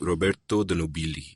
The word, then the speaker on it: Roberto de Nobili: For example, your book begins with this story of the gentleman named Roberto de Nobili. Is that the right pronunciation?